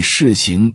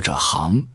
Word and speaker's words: 行: The pronunciation of the word "行" can be "xíng" or "háng".